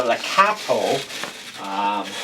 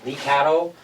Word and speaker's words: Lekato: So today we're going to take a look at the Lekato, that's how they pronounce it, Lekato looper pedal.